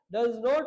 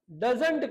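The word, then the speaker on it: doesn't: डज नॉट, और डज नॉट को ही short में डजंट कहा जाता है, और इसका अमेरिकन इंग्लिश में प्रोनाउंसिएशन होता है डजन। डजंट और डजन आप कहा जाता है।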